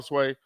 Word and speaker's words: swai: Fried up all the catfish and just about all the sway or swai, depending on how you want to pronounce it.